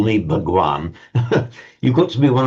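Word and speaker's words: भगवान: Hindus of modern India, the same word, which in Hindi is pronounced Bhagwan, is used for a very revered teacher.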